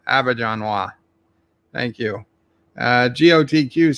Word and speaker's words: Auberjonois: Roxod says pronounce his last name Auberjonois. Auberjonois.